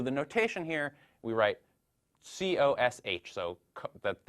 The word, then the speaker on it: cosh: So the notation here, we write COSH, so the H for hyperbolic, so hyperbolic cosine, and usually we pronounce this cosh.